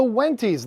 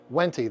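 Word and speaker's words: Wendtii: The wenties, that's how I say it. You might say, you might say it another way, but I say wenty. That's how I've always pronounced it.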